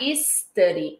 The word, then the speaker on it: study: Muito cuidado com o S de inglês. Às vezes a gente quer falar study e aí você vai direto pro S. Então, study.